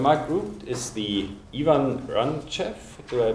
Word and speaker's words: Racheff: root um Dr Mark root is the Ian ranf do I pronounce that correctly yes ah nice professor of